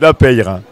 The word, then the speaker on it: Lapeyre: Je crois qu'il faut bien tout prononcer en Gascogne, toutes les lettres de votre mot. Tout à fait. On prononce... Alors, reprononcez-nous votre nom. Alors, Jean-Luc Lapeyre, voilà.